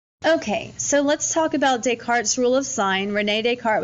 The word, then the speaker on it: Descartes: Okay, so let's talk about Descartes' rule of sign. René Descartes was also a famous philosopher. Please don't say Descartes. The S is silent. It's René Descartes.